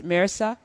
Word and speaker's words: Mehrsa: And thank you, Sina, for pronouncing her name correctly. It's Marissa. Marissa, thank you.